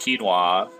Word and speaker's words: quinoa: I didn't know that it was pronounced quinoa, and I had been eating cereal that contained it for like a long time.